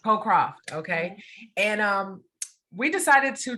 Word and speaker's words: Cocroft: It's Cocroft. Cocroft.